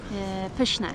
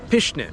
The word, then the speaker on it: pyszne: Pyszne. Pyszne.